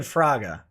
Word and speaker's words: Fraga: say it i said fraga no it's like uh it's like sega yes yeah exactly right